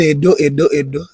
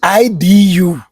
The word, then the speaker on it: Edo: Now, the word everybody is calling Edo is a mispronunciation. The word you are calling Edo in English, the EDO is Idu. Originally IDU or IDUU, not Edo, Idu.